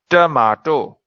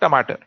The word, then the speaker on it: tomato: Now this is the British way to pronounce a good old tomato. Tomato. The Americans say tomato. Earlier in India we'd say tomato. But now with global influence, everyone you hear is saying tomato. It's up to you how you want to say it.